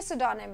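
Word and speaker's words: pseudonym: और इसका प्रोनाउंसिएशन सोचिएगा, इट इज सिडोनिम, पी से स्टार्ट हो रहा है, पर ये सिडोनिम है, ठीक है।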